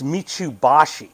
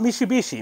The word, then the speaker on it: Mitsuboshi: And there's a last one, which I hope I pronounce this right, but it's Mitsuboshi, not Mitsubishi, Mitsuboshi. Mitsuboshi.